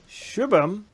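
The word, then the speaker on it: Subham: first of all uh my name is pronounced shubham all this time we were saying it wrong why didn't you never correct it there is your spell your name is pronounced s-u-b-h-a-m where the shit yeah that's that's pronounced as shoe shoe okay so sorry you're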